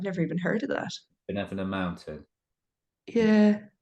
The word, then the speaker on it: Binevenagh: Benevenagh Mountain. Yeah, It's like Benevena.